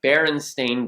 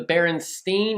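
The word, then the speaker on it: Berenstain: say it like that because most people think it's the baron steain or the baron Stein because a lot of people believe wholeheartedly that it is St i n at the end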